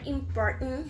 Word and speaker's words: important: In this case, the word important has 3 syllables. So, as we can see, the stress or accent of this word is in the second syllable.